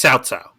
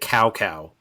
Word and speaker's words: Cao Cao: Okay, it's Cao Cao. Okay, here's the thing though: if you've played Dynasty Warriors 4, they mistakenly pronounce it Cow Cow, which is hilarious.